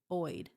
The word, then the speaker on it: opioid: O, say it with me, p opioid, opioid.